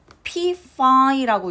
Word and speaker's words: typify: 그래서 앞에 있는 y가 일반적으로는 우리가 typify, t라고 동사일 때는 읽지만 여기에 ed가 붙을 때에는 typified 하고 타입, 우리가 명사할 때 타입이라고 하는 것처럼 이렇게 발음이 됩니다.